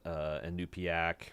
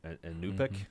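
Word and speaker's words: Iñupiaq: and the religion of the Inupiaq or Inupik, I think is how it seems like the natives are pronouncing it.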